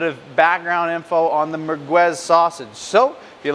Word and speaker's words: Merguez: It's also sometimes pronounced the Merguez or Maracas, but Merguez is kind of the more popular name that it goes by nowadays.